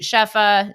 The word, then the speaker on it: Shefa: then you know create chefa shefa I am pronouncing that right yeah because I actually I